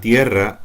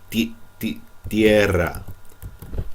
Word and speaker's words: tierra: Next, la tierra han separado. Tierra. If you're having trouble saying the T the way I said it, because some of you said tierra, tierra, okay, you're putting a lot of air behind this.